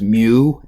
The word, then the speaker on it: mu: actually an M but it's a Greek small M it's pronounced mu mu so we pronounce it a me so that's a Mew and that is if